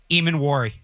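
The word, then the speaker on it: Emmanwori: How's it pronounced? Eamon Wari.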